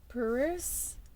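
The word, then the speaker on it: PVRIS: came up was thank you featuring Rey by peruse it's spelled p-v-r-i-s thank you so maybe there might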